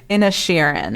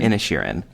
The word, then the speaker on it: Inisherin: Am I pronouncing that right? I'm trying not to say Ed Sheeran. Inisherin. Inisherin.